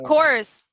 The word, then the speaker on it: Corps: I know, the S is silent. Corps.